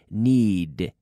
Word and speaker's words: need: Y otra vez, estoy fijando con la pronunciación aquí, need, de, con la D, acabando con la D.